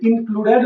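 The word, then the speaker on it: included: अगर word TED या डीईडी से समाप्त होता है तो हम यहाँ पे ई का उच्चारण करेंगे, यानी यहाँ साइलेंट नहीं रहेगा।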